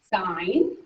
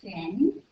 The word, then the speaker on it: sine: Okay, first of all, we don't say sin. That's something that Jesus decides. Okay, it's sign even though it's abbreviated that.